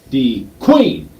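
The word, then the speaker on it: De Queen: if you're actually from there, it's D Queen. Or no, it's my bad. It's D Queen. So you got to put the emphasis on the qu.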